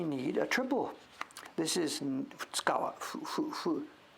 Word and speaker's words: Futagawa: This is Futsukawa. How do they pronounce it? Futsukawa, Nikawa, Futsukawa. Futagawa. Two rivers.